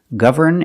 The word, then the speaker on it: govern: And now let's look at these two words, govern and government. If you're using the verb govern, then the N is pronounced.